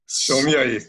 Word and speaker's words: Somlyai: Somlyai, you can say. Somlyai. Yeah. Thank you for sparing me the pain of trying to get the pronunciation correct. Somlyai.